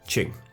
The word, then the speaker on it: Qing: I was making several pronunciation errors. Please forgive me. So it's Qing.